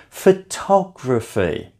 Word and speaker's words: photography: Photography is a word that's often mispronounced. If you can see, count back from the end, 3 syllables. Photography.